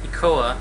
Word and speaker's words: ECOA: Which federal agency administers Regulation B, implementing ECOA, that's how you pronounce it, which stands for Equal Credit Opportunity Act.